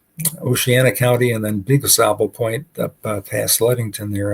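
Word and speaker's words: Sable: Uh that's again pronounced sabul like a short a right there. There's little Sabo point in Oceanana County and then Big Sabell point up past Letington there up by Hamlin Lake.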